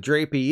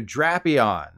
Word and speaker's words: Drapion: your drapes or curtains even though there's only one p in the name allow me to introduce you to drapion according to Pokemon Db the name is a combination of dragon and Scorpion which raises several new questions but when saying this Pokemon's name think about trapping it you want to trap the Trap Pokemon TCG players know what